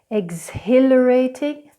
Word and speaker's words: exhilarating: Exhilarating, exhilarating. And the last silent letter we have for you today is the silent K.